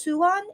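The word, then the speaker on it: 수안: not but it's pronounced suan in in Korean yeah it sounds like Swan right so suan and and yeah yeah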